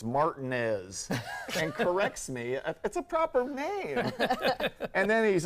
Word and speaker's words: Martinez: you know this uh the town I live is outside of Augusta the Masters is its marty-mart Martinez named after a guy named Juan Martinez okay but they don't pronounce it that way for some reason George is different I'm an entire change